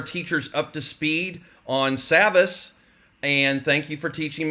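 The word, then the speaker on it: Savvas: up to speed on Savas. And thank you for teaching me how to say it. Yes. You did. Think savvy. Yes, I got it now. Now get savvy.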